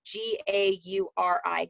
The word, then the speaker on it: Gauri: It's Gauri. Gauri, was that how you pronounced it? Yeah, Gory.